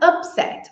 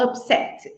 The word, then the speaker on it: upset: tônica é a primeira Quando ela for um verbo a sílaba tônica é a segunda tá tá tudo confuso né deixa eu mostrar para vocês por exemplo essas palavras aqui então a palavra upset ou upset eh elas